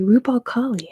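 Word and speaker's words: Rub' al Khali: It is the empty quarter, or the Rub al Khali, as others are saying. That's how you say it in Arabic.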